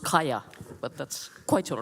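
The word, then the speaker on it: Kaja: It's actually pronounced Kaya, but that's quite all right.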